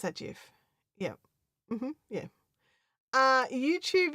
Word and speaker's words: GIF: So we have aluminium and that that's why we um that's why we do so it's pronounced jif. Yeah. Mhm. I would also pronounce that GIF.